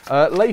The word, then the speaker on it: Lay: I don't know how I would have said it usually, probably Lie or something, but it's Lay, apparently.